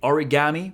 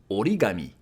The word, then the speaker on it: origami: So I know in English we say origami, but in Japanese it's going to be origami.